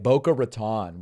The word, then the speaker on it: Boca Raton: Sounds like English, right? Boca Raton. We'll pronounce it that way.